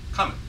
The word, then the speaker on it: Cummin: His last name is actually pronounced Cummin, as in, hey Bob, where's that exercise room? He says, it's coming.